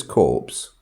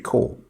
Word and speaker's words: corps: Now, when she says corpse, she obviously doesn't realize that we don't pronounce the P in corpse. We say military core.